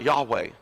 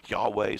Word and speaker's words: Yahweh: This real name, pronounced Yahweh. I'm sure I'm not saying that exactly right. I think you have to a little bit of a guttural sound at the beginning. Yahweh, something like that.